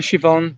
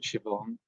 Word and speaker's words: Siobhan: here um hi siobhan that is siobhan in it i always have have difficulties with that name because of the way it's spelled i i always feel it should be spelt with an s it's only a